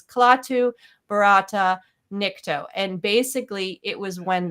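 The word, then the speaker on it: Klaatu barada nikto: Now, he's not saying it correctly. The original phrase was Klaatu, Barata, Nikto.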